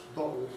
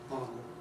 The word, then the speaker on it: bottle: I think there's little doubt that in 100 years, well, I don't know, maybe I'm exaggerating, bottle will probably be the predominant British pronunciation of this and bottle, the American.